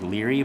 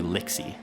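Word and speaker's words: Lixy: of her job the the font on the name by the picture made her name look like leery but her name is actually lixie l-i-x-y oh hey lixie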